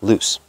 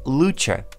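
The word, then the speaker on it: Luce: Mazda 929 which was originally based on Mazda loose let's start with an interesting confusion in pronunciation and language origins of the model name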